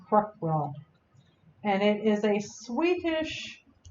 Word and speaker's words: Krokbragd: you know how to spell it when it's pronounced quick world and it is a Swedish technique and it